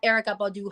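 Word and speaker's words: Erykah: it I can respect it Jill Scott or Erica Badu I personally love Jill Scott I know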